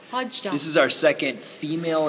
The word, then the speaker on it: Wadjda: How do you pronounce? Wadjda.